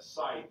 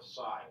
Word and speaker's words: scythe: A dude with a scythe or a scythe, S-Y-T-H-E. It's pronounced scythe or scythe, either way.